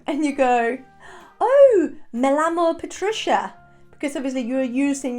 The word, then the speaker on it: llamo: In English, we don't really pronounce the double L. So you normally tend to pronounce the double L as one L.